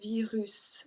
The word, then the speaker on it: virus: So we don't say virus, we say virus. We actually pronounce the S.